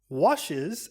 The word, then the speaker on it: washes: However, in he never washes, washes has two syllables. Washes. Also notice how the final S sounds like a Z.